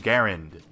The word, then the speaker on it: Garand: of world war two the m1 garand and yes that is the official way of pronouncing this rifle a corrected gun Jesus